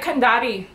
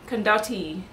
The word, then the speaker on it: Via Condotti: to look it up how am I gonna pronounce this can da T that sound is my icemaker ignore Via Condotti Condotti Condotti e is where we started off our